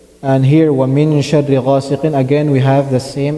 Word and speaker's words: غاسق: So, وَمِن شَرِّ غَاسِقٍ إِذَا وَقَبَ. ومن شر غاسق إذا وقب. We have to make sure the qaf that we're pronouncing is heavy. غاسقٍ. It should not sound like غاسقٍ, right?